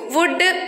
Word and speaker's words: would: In next two words, L is coming after the letter U. Would, could, should.